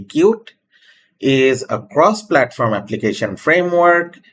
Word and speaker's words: Qt: Qt, pronounced as cute, not cutie, only cute, is a cross-platform application framework written in C++.